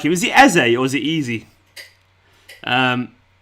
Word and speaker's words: Eze: Eze, it's pronounced.